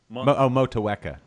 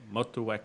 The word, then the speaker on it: Motueka: Motueka. Yeah. Motueka.